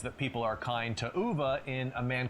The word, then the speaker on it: Ove: And that's probably because people can't pronounce Uva because most people say O.